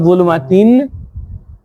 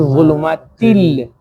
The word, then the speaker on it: ظلمات: So it's not zulumatin, it is zulumatil.